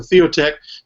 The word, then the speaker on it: Theotek: You can find us by searching for Theotek. By the way, that's Theo as in theology, Theo, T-H-E-O, and T-E-K, not C-K, C-H, but T-E-K at the end of it.